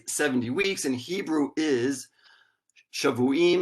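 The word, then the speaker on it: שָׁבֻעִים: Now, this phrase 70 weeks in Hebrew is Shavuim Shiv'im. Now, these 2 words in Hebrew are spelled identically, but they are pronounced differently because of the vowels or the vowel pointing.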